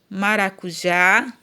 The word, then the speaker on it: maracujá: Temos o exemplo aqui de urubu, maracujá, né, jabuti, boné, ó, urubu, a sílaba tônica é o bu. Maracujá, a sílaba tônica é o já.